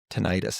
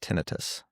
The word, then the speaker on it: tinnitus: It's not tinnitus, it's pronounced tinnitus.